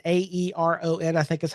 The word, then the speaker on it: Aeron: I have a Herman Miller Aeron, Aeron, I think is how it's spelled.